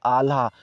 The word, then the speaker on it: आल्हा: कह रहे हैं कि आल्हा छंद की शैली का काव्य कहा जाता है। ठीक है, आल्हा, यहाँ पे अल्लाह जो है गलत बोल दिए थे, ये प्रोनाउंसिएशन गलत हो गया था।